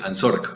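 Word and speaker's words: ANZORC: colombiano por la nuc ansor es correcta la pronunciación Sí ansor a la asociación Nacional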